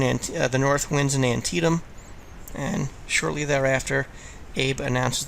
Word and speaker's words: Antietam: say it incorrectly please it's not Antietam it's antium the bloodiest single day